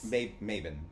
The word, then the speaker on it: Mabon: Which is Maven. Yes. I still think it should be pronounced Mabon.